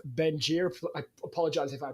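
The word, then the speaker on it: Bengier: I'm doing great and you pronounced it well Gary F bener that's right berer okay perfect so uh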